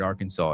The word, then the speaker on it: Arkansas: What a silly word Arkansas is. Arkansas is really how it should be pronounced.